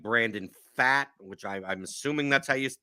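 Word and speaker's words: Pfaadt: guys like like Brandon fat which I I'm assuming that's how you pronounce his name how do you pronounce is it fate he fat fat it's it's I'm pretty sure it's actually fought um but we call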